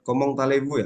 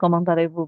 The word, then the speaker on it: comment allez-vous: Mas dibuka lagi itu Ini bacanya komong talevu kan Bu ini masih example of audio media bukan yang punya ibu kirim di chat komong talevu ya Iya betul komong tevu betul sekali ya Iya itu kan Anda